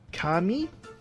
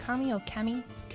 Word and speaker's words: Kami: have and forty um kami i think it's pronounced kami kami k-a-m-i whatever um ballpoint universe infinite